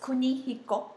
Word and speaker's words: Kunihiko: yeah but you say you have to say four syllables Kunihiko me Kunihiko Kasahara alright